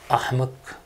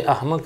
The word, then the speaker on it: احمق: تین تلفظ ایسے ہیں، میڈیا والے بھی سن لو، یہ ٹی وی پر بیٹھنے والے، لفظ ہوتا ہے احمق، یہ بولتے ہیں احمق.